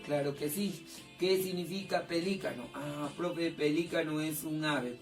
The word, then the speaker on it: pelícano: Profe, en pronunciación, acá dice pelícano, con énfasis. Acá dice pelicano.